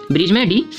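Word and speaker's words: bridge: कर रहा था ब्रिज ब्रिज है ठीक है इसका रूल क्या बताया की जी से पहले दिलाता है साइलेंट राहत है जब वो ब्रिज को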